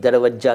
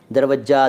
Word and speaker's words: दरवाज़ा: दरवज्जा तो खोल अंदर आने दे मेरी अच्छी अच्छी माँ, गाना था एक, किशोर साहब ने गाया था। दरवज्जा, दरवाज़ा, ठीक है, दरवाज़ा फ़ारसी का है।